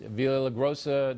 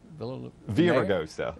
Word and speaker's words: Villaraigosa: But they're playing to their base, Villagrosa. That's how you say his name, right? Villagrosa? Villaraigosa.